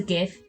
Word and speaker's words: GIF: And yes, I say GIF with a hard G, it stands for Graphics Interchange Format. Last time I checked, it's not pronounced Giraffics.